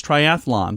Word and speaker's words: triathlon: say that triathlon yeah it's triathlon there's no extra a it's not triathlon it's triathlon oh okay